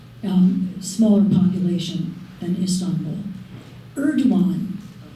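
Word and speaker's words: Erdoğan: Erdogan, the Turkish alphabet, the pronunciation of G with that um pronunciation key over it, it's silent.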